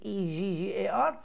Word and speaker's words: beggar: عندك beggar، خلي بالك دي BIGGER ودي BEGGAR. طبعا هنا دي شورت اي وهنا دي شورت اي، دي تتنطق beggar ودي تتنطق bigger. beggar bigger.